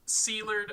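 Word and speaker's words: Szilard: And Well, it's aren't they pronounced- coming all from the same place? Sealard, according No.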